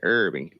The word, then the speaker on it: herb: where they speak English, they often say herb, because I mean there is an H, but we say herbs.